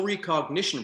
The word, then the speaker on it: Re-Cognition: So the Soul Re-Cognition Process, and you said it right, thank you.